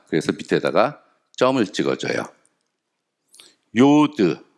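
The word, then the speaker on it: יוד: 밑에다가 점을 찍어 줘요 요드 요오드는 와이 발음 0에서 y는 혼자서 못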